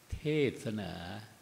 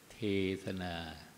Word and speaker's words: เทศนา: จัก แสดง พระ ธรรมเทศนา เทศนา เทศนา จำ ไว้ นะ ครับ คำ เดียว แต่ ออก เสียง ได้ 2 อย่าง ว่า ณ บัด นี้